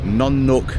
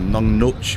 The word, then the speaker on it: Nong Nooch: So this morning, Oya's taken me about 30 minutes outside of Patia heading south to Nong Nook or Nong Nooch, whichever way you want to pronounce it, uh, gardens.